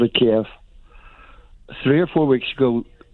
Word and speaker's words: Kiev: what did you mean when you said it's kiev not keeve you see the thing about it is the west and west we have always called it kiev three or four weeks ago to be clear